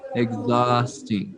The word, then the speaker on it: exhausting: in arabic it's housing so the stress is on the second syllable yes the stress is on exhausting yeah okay um